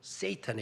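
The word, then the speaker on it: Satan: 5조 바로 사탄 이거든요 사탄 발음을 쎄이 턴 이러고 되요 쎄이 턴 에 쎄이 터는 바로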